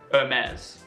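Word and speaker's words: Hermès: the case of Hermes you do not pronounce the H and you make the Xia very soft in the end Hermes your air mate Oh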